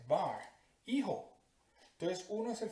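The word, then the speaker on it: בַּר: Ese es el significado en hebreo de bar, así se pronuncia, bar, hijo.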